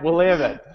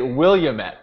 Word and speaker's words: Willamette: it right I have been saying it right Willam it I've been saying it right for the last